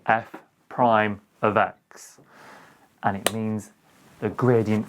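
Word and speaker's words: f′(x): apostrophe just after it we pronounce it f prime of x and it means the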